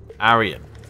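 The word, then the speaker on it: Aryan: Arian.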